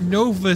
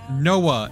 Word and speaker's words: Noa: Not Nova Sphere, Noa, N-O-O. You pronounce the O separately. It's the Noa Sphere. Not Nova. Like, people would misread it as the new sphere, but that's not how you actually say it, because God forbid language makes sense.